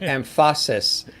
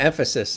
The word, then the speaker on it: emphasis: i think it was the word amphasis and supposed to emphasis the emphasis i love